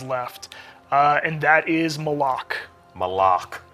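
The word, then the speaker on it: Malok: Malak. Right. Official pronunciation confirmed. So Malak. if you hear anybody saying Malak, send them right here to the archive of this stream.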